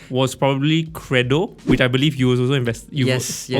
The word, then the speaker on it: Qredo: that the right thing to say, was probably Credo, which I believe you also invested in.